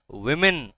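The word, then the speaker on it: women: বলে শুনো ভালো করে ওমেন বলে না উইমেন বলে উইমেন নট ওমেন নট ওম্যান ইটসম্যান ওম্যান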